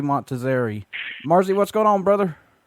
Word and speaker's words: Montazeri: But it's pronounced Marzi Montazeri.